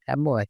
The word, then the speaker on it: も: も、も、 The pronunciation of character mo in Japanese is something like the combination of moh in English.